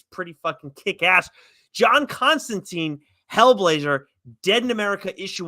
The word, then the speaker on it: Constantine: So again, if you're a Constantine rhymes with swine fan and a Spurrier fan, this is definitely must read stuff.